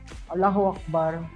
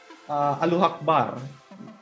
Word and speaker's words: Allahu Akbar: almsgiving, and fasting, and hajj or pilgrimage, which Allahu Akbar were we using as a prayer and greetings for all of us Muslims.